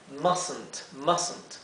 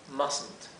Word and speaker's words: mustn't: Y aquí en realidad, aquí idealmente no pronuncien esta E, traten de pasar de la S a la N. Mustn't, ¿sí? Mustn't. Y como verán, esta T entonces no se pronuncia. En cambio, la T final sí se pronuncia claramente.